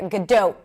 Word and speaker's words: Gadot: This is why most people pronounce it as gdo, but in Hebrew it's a pure o.